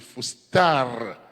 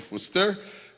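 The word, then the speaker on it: φωστήρ: Et l'autre mot encore qui suit, c'est Foster, c'est P-H-O-T-E-R, mais si vous appelez l'écrit prononciation phonétique là, c'est P-H-O-T-A-R-E, c'est Fostar, mais si vous appelez en français, on dit Foster, donc ce qui donne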